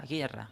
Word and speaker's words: guerra: Porque aquí no pronunciamos la U, no decimos guerra, decimos guerra.